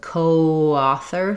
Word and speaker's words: coauthor: And you're going to end up with a little bit of vowel to vowel linking there with coauthor.